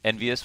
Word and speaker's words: EnVyUs: ENVYUS always rhymes with marvelous, but will this round be marvelous for them?